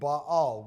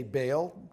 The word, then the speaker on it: Baal: God this God was named Baal probably correctly pronounced would be all we typically say Baal b-a-a-l literally hundreds of images